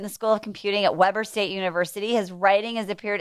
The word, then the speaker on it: Weber State: history here in uh weber state and then uh i followed her here here that's so cool i said it wrong it's weber state i didn't even know